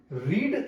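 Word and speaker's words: read: change नहीं होता है रीड का रीड स्पेलिंग में ही रहेगा बट प्रनंसीएशन में वो चेंज होगा रेड कहलाता है तो अब वो बीइंग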